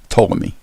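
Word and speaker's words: Ptolemy: the second century mathematician Claudius toomy that's spelled PT o Lem y his map it is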